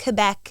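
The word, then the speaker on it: Québec: Well, a lot of people say Quebec, but I say, in French it's Quebec, so I think Quebec is a closer translation.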